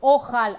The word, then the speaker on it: אוכל: What happens when there is Aleph and O near it? It's O. O. So ochal, I will eat.